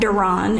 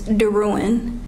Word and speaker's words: DeRowan: My last name is not Duran, it's DeRowan.